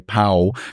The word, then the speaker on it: pav: English alphabet but uh local Indians seem to say pow because sometimes they pronounce the V like a w can't help but noce